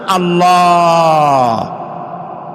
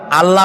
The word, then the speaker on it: আল্লাহ: আল্লাহর নাম আল্লাহ, বলেন তো? আল্লাহ নয়, কিন্তু আল্লাহ হচ্ছে অশুদ্ধ, শুদ্ধ হচ্ছে আল্লাহ। বলার সময় মুখটা গোল হয়ে যাবে।